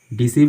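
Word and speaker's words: deceive: तो इसमें सी का साउंड देता है, ये जो सी है वो सी का उच्चारण होता है इसका इसमें। तो इसलिए इसके पहले हम EI का प्रयुक्त करते हैं, इसका सी का साउंड होता है, इसलिए यहाँ पे EI आया हुआ है।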